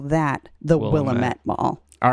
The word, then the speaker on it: Willamette: that if you were in Oregon it is pronounced Willamette it's Willamette damn it why all right away but what